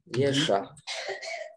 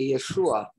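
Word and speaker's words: ישוע: Yesha. Mais vraiment, il y a aussi le Vav, ça devrait être appelé Yeshua. parce qu'il y a le Vav et le Ain qui doivent être prononcés.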